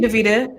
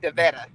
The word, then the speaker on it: Davetta: And, I think, thank you, Davita. I appreciate it. Thank you for being on here with us today, lady. We appreciate you. and it's pronounced Davetta. Oh, I'm sorry, Davetta.